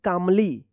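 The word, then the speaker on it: calmly: सी ए एल एम एल वाई। तो क्या पढ़ेंगे? कामली कामली पढ़ेंगे। यहां पे भी क्या है? एल साइलेंट रहेगा।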